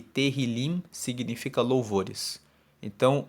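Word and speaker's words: Tehilim: hebraico no texto original se chama teril se escreve t e h i l i m e teril significa louvores então o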